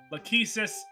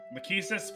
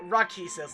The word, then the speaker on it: Lachesis: Lachesis? Was I getting it right this time? I don't care. Like, you can... As long as you're not saying Rachesis, like the fucking translation patch.